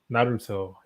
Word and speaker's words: Naruto: How do you pronounce that? Naruto.